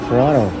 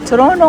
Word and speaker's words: Toronto: without tea. How do you say it properly? How do you say it? Ha? Ano? Toronto. O Toronto nga walang tea.